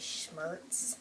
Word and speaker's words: Schmrz: Their last name is Schmertz, and it doesn't have any vowels in it.